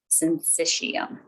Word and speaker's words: syncytium: Syncytium. That's how you pronounce that word.